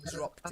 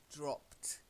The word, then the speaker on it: dropped: Then you've got to get the t ending at the end to show that it's in the past. Dropped. Drop. Dropped. Dropped. That's better. So it's like dropped. Yeah, you've got that t sounding.